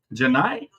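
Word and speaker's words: Johni: Johnny Broom. Janai. Oh, that's how you say it.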